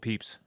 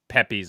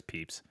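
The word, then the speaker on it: Pepys: Samuel Peeps. Samuel Peeps. Final answer. And it's not pronounced Pepes or whatever. It's Peeps.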